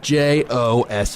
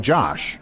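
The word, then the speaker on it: Joh: spell Jo uh just j o h oh so like Josh Josh that's so weird what's Josh Josh on Earth we would we would pronounce that Josh it's definitely Jo Jo yes yeah it's it's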